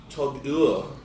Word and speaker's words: TAG Heuer: So it's Tag Heuer. It's for a German watchmaker, it sounds weird.